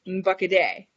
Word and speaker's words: Bakade: And the N is pretty, it's almost silent, and it kind of has like a little nasally sound. So you're not really pronouncing it as N like we would normally think in English.